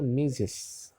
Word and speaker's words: Mrs: Ini bacanya Mrs, ya, Mrs.